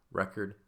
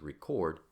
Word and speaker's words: record: And we have a similar experience in English with the word record as a noun versus record as a verb.